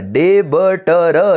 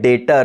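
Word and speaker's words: debtor: यस सर, डेबटर। ये गलत है, इट इज नॉट डेप्टर। इसे क्या कहते हैं? डेटर। सर बी साइलेंट कर दो, बराबर पढ़ोगे। क्या बोलो?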